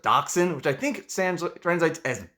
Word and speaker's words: Dachshund: Apparently, like in German, the proper way to pronounce their name, it's, I think, Dachshund, or how you would usually pronounce it, Dachshund, which I think translates as badger hound or badger dog.